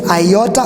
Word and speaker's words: iota: So the pronunciation is iota, or from the word thin. The way you pronounce thin, that's how it comes in.